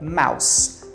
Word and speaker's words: mouse: som de zer tá mas aí é mouse mouse com som de s Mouse keyboard é o